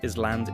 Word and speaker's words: island: Number 12, island. An island is land in the sea, like a small piece of land with water around it. Another silent letter. Yes, the s is silent.